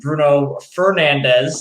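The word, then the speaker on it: Bruno Fernandes: goals and then uh the return of uh bruno fernandez is the correct pronunciation if i may say so um but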